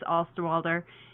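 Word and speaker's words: Osterwalder: many many many years to learn how to pronounce his name correctly alex alsterwalder and probably like 740 of his geeky friends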